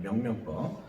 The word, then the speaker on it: 명명법: 자, 여러분들은 한때 이걸 띵띵법이라고 읽었죠? 그렇죠? 띵띵법 아닙니다. 네, 명명법.